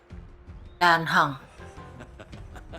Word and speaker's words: Dan Heng: So that is how it's pronounced. Dan Heng.